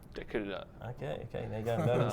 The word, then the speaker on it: Tekirdağ: This is for one of the cities in this region, Tekirdağ. Tekirdağ.